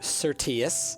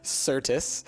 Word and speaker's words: Certus: to have broken down because I pronounced it Certus instead of Certis.